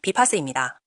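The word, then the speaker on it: BPaaS: 바로 BPASAS. 발음은 비파스입니다.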